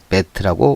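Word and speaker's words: בית: 자, 요 베트는 요 모음문가가 요드와 체레는 에 발음이라 베티의 비읍과 마지막 타부의 티귿의 모음이었기 때문에 베트라고 발음을 하는 겁니다.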